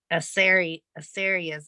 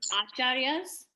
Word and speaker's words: acharyas: I've not heard of any of those Asaryas, and I'd never heard of that word either before. Asarya, if I'm saying it right, that means spiritual masters. Yeah, the right pronunciation is acharyas.